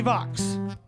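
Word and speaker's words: Vaks: Timothy Vox. V-A-K-S rhymes with Vox. Timothy. AcoustiCafe, you still with us? Ladies and gentlemen, Mr. Timothy Vox.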